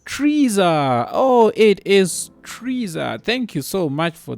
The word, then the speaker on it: Frieza: way it is it's freezer oh it is freezer thank you so much for the correction in